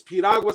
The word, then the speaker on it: piragua: if it's one R, say it like a D, and you got it. You got it. So if it's piragua, say piragua, piragua, piragua, piragua, piragua. Say it real fast. Piagua, Piagua, Piragua, Piagua, Piagua, piragua.